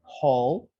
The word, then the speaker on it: whole: not to be empty this is pronounced whole okay like a hole in the ground but it's different spelling okay and when do